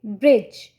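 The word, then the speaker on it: bridge: लेकिन जब आप ये बता देंगे कि DGE एक ट्राइग्राफ है और इसको हम जा पढ़ते हैं, डी यहाँ पे साइलेंट है, GE को हम ऐसा जा लेते हैं, तो कैसे पढ़ पाएंगे बच्चे? ब्रिज।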